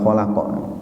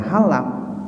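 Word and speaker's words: خلاق: Jadi artinya dan Allah lah al-khallaq, itu maha pencipta dari kata khalaqa. Al-alim yang maha mengetahui. Ya, ini kalau keliru membacanya khalaq dibaca halak, jadi kha menjadi ha, atau alim dibaca alim, itu maknanya menjadi jauh sekali, menjadi berubah.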